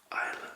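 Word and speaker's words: Islay: i'll single mold scotch whiskey so it's written i slay you could say but it's actually pronounced isla and then we continue established in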